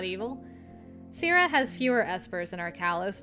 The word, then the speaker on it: Sira: And finally, contact information and his exact location on Sierra. Hey, I did get it right. Thank you for putting the pronunciation in there. Pronounced Sira. Sira is a large moon that orbits Arcalis.